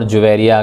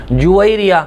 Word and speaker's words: جویریہ: نام بھی تھا، اور عربی میں اس کا تلفظ اور پروننسیشن یہ ہوگا جویریہ۔ بعض لوگ جویریہ بھی بولتے ہیں، یہ عربی کے لحاظ سے غلط تلفظ کہلائے گا، بلکہ اس کا اصل تلفظ یہ جویریہ ہوگا۔ اس کے معنی ہوتے